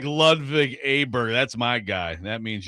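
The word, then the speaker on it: Åberg: And he pronounces it Oberg. How about that? Oberg? There's not an O there. Yeah. Really? Yeah. It's a Swedish thing.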